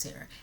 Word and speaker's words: Tara: call me Tara cuz my name is Tara it's pronounced Tara and she was like